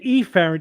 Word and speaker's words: efferent: we just, because it's like afferent and efferent could be confused, but if you say efferent, it's literally E F F E.